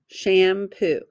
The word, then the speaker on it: shampoo: First syllable, sham. Second syllable, poo. Shampoo. Tap it out.